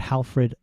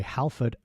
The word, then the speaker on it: Halford: Uh again, don't know either of these guys, but Halfred, sorry, Halford Machiner was British.